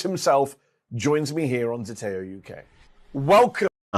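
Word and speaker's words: Zeteo: bi-election, Count Binface himself joins me here on Zateo UK. Welcome. And there's a link to Zateo if you uh want to go and subscribe,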